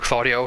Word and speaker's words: Claudio: I think is uh very very good for claudo it's minus 9 claudo has a lot of